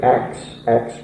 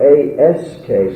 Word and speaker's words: ask: letters are written because so many kids today say ax me no questions, ax. Now it's not spelled A-K-S, it's spelled A-S-K, so it's ask.